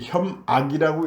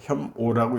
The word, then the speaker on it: 혐오: 이 혐악이라고 읽으면 안 돼요. 혐오라고 읽어야 됩니다.